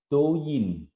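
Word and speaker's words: 抖音: Nama aslinya bacanya gimana nih? Douyin.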